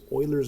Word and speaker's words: Euler: E is Euler's number. His name is spelled E-U-L-E-R, but it's pronounced Euler because he's French.